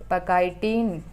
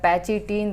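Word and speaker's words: pachytene: पैकाइटिन या पैचिटिन, दोनों तरीके से आप इसको प्रोनाउंसिएट कर सकते हैं, ठीक है, पैकाइटिन या फिर पैकेटिन।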